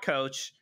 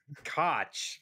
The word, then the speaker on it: Koch: a pre-briefing and they it's not it's not coach it's not were you ready i thought you might be ready dan i got got it it's it was it's koch it's how they say it which maybe we'll